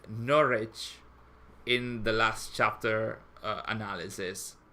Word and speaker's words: Norwich: second to last stream, I said Norwich or something like that, like North. Hello, people. Northwich. I see you. Sorry, see you. I said something like Northwich, and I had a few comments saying you shouldn't pronounce it like that.